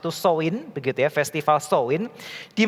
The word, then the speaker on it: Samhain: Di mana mereka memiliki sebuah festival disebutnya pronounce-nya itu Samhain, begitu ya, festival Samhain, di mana mereka percaya